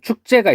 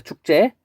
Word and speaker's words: 축제: 다음은 축제가 있습니다. 축제. 보면은 표기대로 발음하면 축제 이렇게 발음할 수 있겠죠.